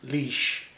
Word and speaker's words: Laois: Leash.